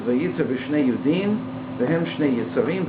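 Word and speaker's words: וייצר: The word is pronounced vayitzer, and it has that extra yud in order to emphasize that.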